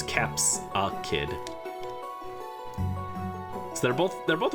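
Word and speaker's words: Capsakid: Capsicid. I was saying it wrong. It's Caps a Kid.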